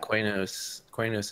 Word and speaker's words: Quanos: He says Quanos wrong, but I forgave him for that. Quanos is how you say it.